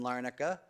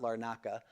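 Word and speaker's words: Larnaca: This is in Larna. I've never been there but I was told by someone how to pronounce it. Not Laka.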